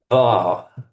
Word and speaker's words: dwa: Dwa.